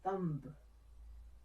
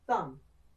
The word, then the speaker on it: thumb: In the word thumb, we have a silent B. Instead of saying thumb, just say thumb.